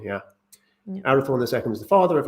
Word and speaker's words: Arathorn: of the one that it rhymes with out of thorn yeah arathorn ii was the father